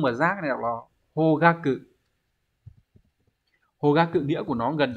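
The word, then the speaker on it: 方角: giác này đọc là hogaku. Hogaku nghĩa của nó gần giống là phương hướng nhưng mà nó chữ Hán là chữ giác nhé, mà nhớ là đọc là hogaku không phải là hokaku.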